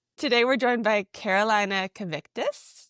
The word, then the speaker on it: Kvietkus: Today we're joined by Carolina Kvietkus. Did I say it right? Kvietkus, yes. Everyone says it a little different, though. Kvietkus, yes.